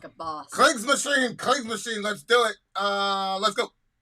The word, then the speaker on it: Kriegsmaschine: How do you pronounce that? Kriegsmaschine.